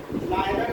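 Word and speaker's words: neither: Radha is नायदर नीदर बोली, आप बोलते हो प्रोनाउंसिएशन में नायदर और नीदर जैसा जिसका प्रोनाउंसिएशन है।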